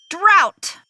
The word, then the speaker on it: drought: said it earlier and it begins with the letter d and it rhymes with the word shout so if you know it shout it out did you say drought nice drought conditions I'm really parched